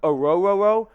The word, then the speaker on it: Orhorhoro: Then they traded up in round 2 to get Clemson defensive tackle Ruke Orhorhoro. I know, it's not a bad Scooby-Doo impression. That is how you pronounce his name.